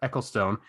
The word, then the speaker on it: Ecclestone: F1 was previously run by Bernie Ecclestone. Is that how you pronounce it? Yep. Ecclestone.